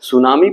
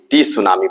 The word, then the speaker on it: tsunami: बात यह है कि सुनामी एक जापानी भाषा का शब्द है जिसमें टी लेटर साइलेंट रहता है, मतलब बोलते समय टी लेटर का उच्चारण नहीं किया जाता है, इसीलिए TSUNAMI को सुनामी पढ़ा जाता है, ना कि टी सुनामी पढ़ा जाता है।